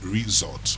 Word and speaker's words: resort: The S becomes Z.